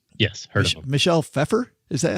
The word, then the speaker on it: Pfeiffer: Michelle Pfeiffer. Is that how you pronounce that? Pfeiffer?